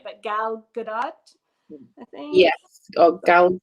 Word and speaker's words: Gal Gadot: I don't know if I pronounce it right, but Gal Gadot, I think. Yes. Oh, Gal Good. I always want to say Godot and pronounce it like I French. do too, but I think there's a T.